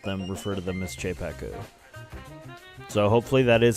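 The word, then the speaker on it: Czepeku: You know, they got that CZE at the beginning, and I'm kind of thinking that that's like, you know, like the Czech Republic or whatever. Like Czech. CZE Chepeku.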